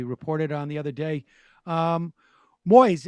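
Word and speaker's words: Moïse: Moise, am I pronouncing his name? Moise. Okay. By the way, Moise is the French name for Moses.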